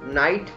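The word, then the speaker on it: knight: ऐसे ही this is नाइट, नाइट में भी हमारा के साइलेंट है.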